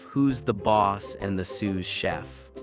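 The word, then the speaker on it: sous-chef: Shoe chef, do they cook sneakers? Are they grilled or fried? I prefer my laces extra crispy. Roxy, it's Sue chef. S us, it's French for under.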